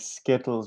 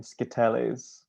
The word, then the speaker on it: Skittles: This woman who made the video, she just pronounced a bunch of English words with the like she accented the wrong vowel. So like Skittles became Skitelles.